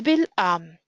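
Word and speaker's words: בִּלְעָם: The first stress is on the syllable am. El bil am.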